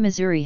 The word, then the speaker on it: Missouri: Assuming Missouri were deriving from the Siouan language, it would